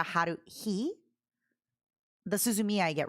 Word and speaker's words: Haruhi: For some reason in my mind, she's always a Haruki, not a Haruhi.